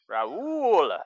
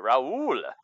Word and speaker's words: Raul: round Mendoza steam ramen dosa is good - Rahula sorry Raul Raul Mendoza Mendoza I gotta say it like